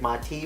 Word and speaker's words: Montee: really got to temper your expectations, and that's Montee Ball with Denver. And I know it looks like Montee, but it's actually pronounced Montee Ball with the Denver Broncos.